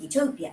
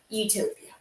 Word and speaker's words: Utopia: In English, in modern English specifically, that prefix is pronounced the same as you, meaning good, think euphoria, which creates a very tongue-in-cheek pair of homonyms.